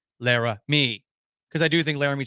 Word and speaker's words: Laremy: I say this in the same way Skip Bayless would say it, but it's unfortunate that the last syllable in Laremy's first name is me, Lara, me.